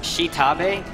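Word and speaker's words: Xtabay: I believe it's pronounced Shitabe. It's spelled X''Tabay.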